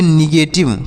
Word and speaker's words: negative: NEGATIVE, तो N से पढ़ेंगे न, ई से बड़ी ई की मात्रा का उच्चारण करेंगे, GA से पढ़ेंगे गे, GA से गे, और T से पढ़ेंगे टा, आई से छोटी ई की मात्रा, और VE से वाह, तो इसे पढ़ेंगे निगेटिव। क्या पढ़ेंगे?